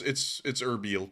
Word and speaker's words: Erbil: Someone said it's pronounced Onbil, not Erbil. Let me make sure that how to pronounce, I'm going to pull that up, pronounce Erbil. Erbil. So it's Erbil, pretty much. Erbil. It's pretty much what I'm saying.